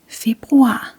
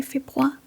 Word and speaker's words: februar: We don't actually pronounce the R.